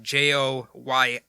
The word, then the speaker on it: Joyita: That's why the J is silent, apparently. It looks like Joyita, Joyita.